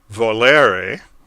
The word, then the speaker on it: Volere: Several places in the chapter, you will find examples from a methodology called Valeri. At least that's how I would pronounce it and do. It's an Italian verb to want.